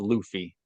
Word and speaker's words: Luffy: Actually, his name is pronounced Luffy.